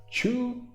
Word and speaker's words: Choux: All right, so the new hero up, we got Choux. I think it's Choux. Usually X is silent, right?